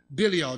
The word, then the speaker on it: Belial: Certain sons of Belial. That's how you pronounce it.